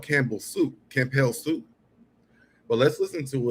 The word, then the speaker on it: Campbell: And I think it's still spelled this way, but he pronounced it for some way. Tevin Campel. That B didn't That B wasn't there.